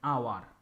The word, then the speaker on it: hour: okay next similarly an is also used before silent h an hour an honest man so